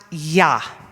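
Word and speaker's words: יה: hanging in the air, that's a Yud, gives us a little bit of you get a little bit of feeling of strength in the air when you pronounce Yah. The He is basically silent, but if you look,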